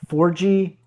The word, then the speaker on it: Forgie: Got long hair, but it also says pronounced the number four and letter G.